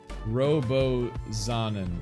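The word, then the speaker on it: Robozonan: name wrong not cool hold on i'll pronounce it right that pig step finish no i'll do it right now it's robo zonan oh i see like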